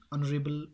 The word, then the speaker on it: honorable: As I told you immediately, honorable or H-O-N-O-R-A-B-L-E, honorable produces vowel sound, that's why N is used there.